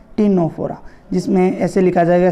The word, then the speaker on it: Ctenophora: टीनोफोरा, जिसमें ऐसे लिखा जाएगा, सी साइलेंट रहेगा, CTNENO, टीनोफोरा।